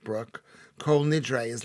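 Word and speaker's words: Bruch: I mean, pronounced Brooke, German composer who wrote it for the Jews of Liverpool who helped found the orchestra there.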